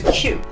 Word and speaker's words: queue: 代表它哦，那就是 queue。